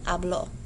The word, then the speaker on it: habló: For present tense, your stress is on the first syllable. You say yo hablo. For the preterite, your stress is on the second syllable. Él habló.